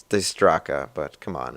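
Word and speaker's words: Dijkstra: with me you'll remember having to do some digistraka's graph theory networking stuff and yeah i know that's not how you pronounce his name it's it's the straca but come on it's spelled that way and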